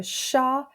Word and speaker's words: chat: So le chat has a silent T.